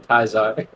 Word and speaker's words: Caesar: wait who is Julius in Fallout New Vegas there's a villain also called Caesar except people who respect him call him kaizarre and so that's the